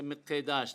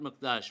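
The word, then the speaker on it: מקדש: I'm only kidding mikash according to Safari pronunciation we say mikash not mdash why because the word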